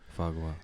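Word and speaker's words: foie gras: Fagwa. It's a I mean it's spelled like right?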